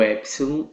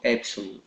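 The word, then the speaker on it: έψιλον: A letra epsilon é como se fosse a nossa vogal aberta no português. Ele é o E, ok? Essa é a pronúncia do epsilon, E. Como se tivesse um acento em cima do E.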